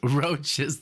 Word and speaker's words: Roches: or Brothers albums by the roaches pronounced roaches there you go see I had